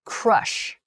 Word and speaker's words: crush: sound quite similar they are crash clash and Crush Clash crash Crush that's hard to say okay